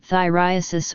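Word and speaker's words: Phthiriasis: Infestation with pubic lice is also called thyriasis or thyriasis pubis, while infestation of eyelashes with pubic lice is called thyriasis palpebrarum or pediculosis ciliarum.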